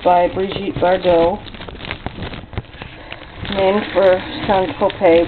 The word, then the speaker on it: Saint-Tropez: And this is a pastry that was promoted by Brigitte Bardot, named for Saint-Tropez, which you can pronounce Saint-Tropez. That's the old original pronunciation.